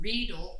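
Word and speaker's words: Riedel: have invested in some readil rhymes with needle wine glasses and these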